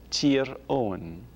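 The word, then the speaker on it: Tír Eoghain: Tyrone, Tir Owen.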